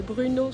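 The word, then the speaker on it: Brno: de la prononciation mais en gros c'est Bruno sans le U et c'est une des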